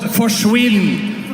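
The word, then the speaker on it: forsvinn: in Norway we have a word that's called forwin and it rhymes with Quinn so it basically means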